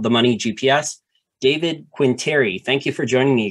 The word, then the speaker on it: Quintieri: he also has one of the largest finance and economics YouTube channels also called the money GPS David quinteri thank you for joining me again thank you